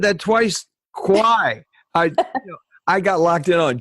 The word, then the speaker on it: Quy: Her last name is spelled Q-U-Y, and it's pronounced Kwai, like the River Kwai, bridge on the River Kwai.